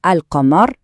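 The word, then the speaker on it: القمر: Avec une lettre lunaire comme dans alqamar, la lune, on entend bien le L.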